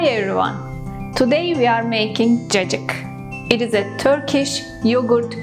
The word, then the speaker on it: Cacık: With the refreshing ingredients in it, cacik. Yes, this is how we pronounce it.